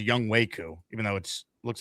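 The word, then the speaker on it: Younghoe Koo: It is Young Wei Koo. Even though it looks like it's Young Ho, it's Young Wei.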